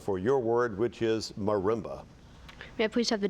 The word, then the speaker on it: marimba: The distinctive tone of the marimba was the sound Samantha's group sought. Marimba. Am I pronouncing it correctly?